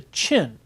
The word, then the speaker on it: Qin: A new people begins to emerge in that area, a new historical identity, a people called the Qin, which in the pinyin system is spelled Qin.